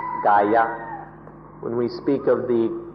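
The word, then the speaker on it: kāya: body or kaya hear it for entire be pronounced Gaia when we speak of the Gaia the Buddha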